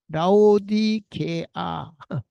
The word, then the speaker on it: 라오디게아: 자, 이 편지를 너희에게서 읽은 후에 라오디아 게 라오디게아 발음이 라오디아 라오디아 라오디게아 인의 교회에서도 읽게 하고 또 라오디아게아로부터 오는 편지를 너희도 읽어라.